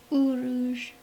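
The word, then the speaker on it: Uruz: It almost looks like an N, but it's actually pronounced Uruj.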